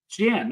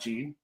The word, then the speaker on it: Jan: the first one go it's Jan Jan not Jean is it Jan well